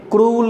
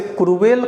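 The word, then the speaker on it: cruel: ही इज, बताइए, इसे क्रूल कहते हैं, क्रूल। अगर आप इसे क्रूएल कहते हैं या और कुछ अगर कहते हैं तो वो गलत हो जाता है, जबकि सही होता है क्रूल। क्रूल ये करेक्ट उच्चारण है, लेकिन इसको आप क्रूएल कहते हैं या क्रूएल, तो ये गलत उच्चारण हो जाता है।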